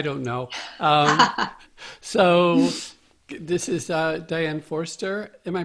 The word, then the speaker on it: Diane Forster: winning lottery I don't know so this is Dianne Forster am i pronouncing that right you're pronouncing it perfectly hi